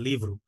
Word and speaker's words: livro: বইকে আপনার যেটা হচ্ছিল লিব্রো, আর যেটা হচ্ছিল আপনার পর্তুগিজে আপনার লিভ্রু, লিভ্রু, ঠিক আছে, লিভ্রু, হ্যাঁ, আর যে কোনো